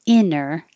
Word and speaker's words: inner: head, and number 46, inter or no T, inner, the vowel is like hit. And this one definitely has no T, it's just inner. So 46 and 47 could be pronounced exactly the same.